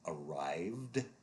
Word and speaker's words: arrived: And the ed takes the d sound when the dominant sound of the root word is a sound that you make with your lips or your tongue. Examples here include arrived because the strongest sound here is the v.